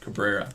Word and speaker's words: Cabrera: Oswald Cobra how do you say his name Cabrera Cabrera to 99 for the Yankees yeah White